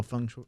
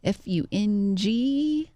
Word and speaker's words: feng shui: Can you spell Feng Shui? Can you spell that real quick? Feng, Fung. Shui. I guess we're saying it wrong because it's Shway. It's Fengshui. Not even close.